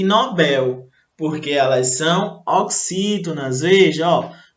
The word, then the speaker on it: Nobel: Observe aqui que algumas pessoas, elas costumam errar essas palavras aqui, olha só. Por quê? Elas pronunciam como se fosse uma paroxítona, mas na verdade elas são oxítonas.